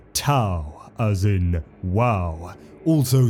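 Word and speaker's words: T'au: ethereal Supreme AA the T apostrophe Au Empire pronounced ta as in WoW also spelled th hu Empire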